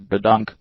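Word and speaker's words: gedunk: drawer was born I screwed up it's actually pronounced the dunk key dunk is what Navy sailors call Candy and other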